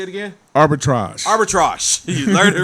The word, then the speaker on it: arbitrage: Arbitrage.